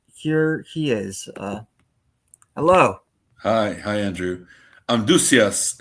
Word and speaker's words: Amduscias: Amduscias is how we pronounce it, although we're not really sure what it sounded like in the BC times, the BC days.